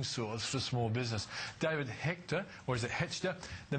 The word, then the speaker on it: Hechter: largest alternative funding source for small business David Hector or is it heter the managing director of GE pronunciation heor or Hector Hector okay now David tell us about interface the